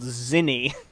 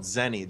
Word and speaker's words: Zeni: concept it's just it's called Zin zeni which zeni it's called zeni dude maybe you'll have a different output if you pronounce it right um so guys we